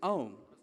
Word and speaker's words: Aum: primordial sound called as the 3-syllable A, U, and M, that is Aum.